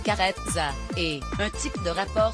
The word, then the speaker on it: Carezza: Carezza, qui se prononce carezza, est un type de rapport sexuel doux et affectueux.